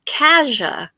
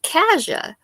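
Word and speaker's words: Cassia: born in the county it's c a SS I a and it's pronounced Kaja here in so we pronounce it Kaja K we moved to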